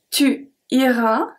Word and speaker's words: tu iras: Then we have ira, ira, ira, ira. They all pronounce the same because we don't pronounce the S at tu ira.